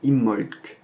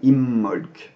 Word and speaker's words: Imbolc: et ça se prononce imholz donc en fait on insiste sur le m imholz et à la fin on prononce légèrement un petit cas mais on l'entend à peine imholz ensuite on passe à